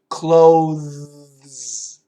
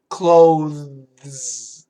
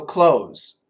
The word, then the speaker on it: clothes: pronunciation includes the th clothes clothes okay it's a smooth transition that's right Fernando don't trust that DT uh but the z sound allows us to cancel the th so close Shane nice clothes oh